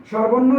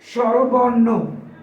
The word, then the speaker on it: স্বরবর্ণ: স্বরবর্ণ যদি আমরা উচ্চারণ করি সেটা ভুল হবে। এই শব্দটির প্রমিত উচ্চারণ হলো স্বরবর্ণ। স্বরবর্ণ। স্বরবর্ণ না, প্রমিত উচ্চারণ হবে স্বরবর্ণ।